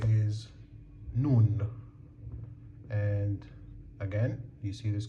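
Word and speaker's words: نون: And this is the noon sound.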